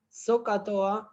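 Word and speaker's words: SOHCAHTOA: Socatoa, la pronunciación, digamos, es Socatoa, pero digamos, la forma de escribirlo es así.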